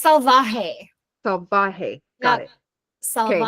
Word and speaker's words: Salvaje: It's Salvaje.